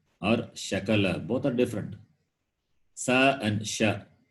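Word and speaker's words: शकल: very important in samskritam if you are wrongly pronounced it can mean different it can mean different like for example sakala or shakala both are different sa and one is parts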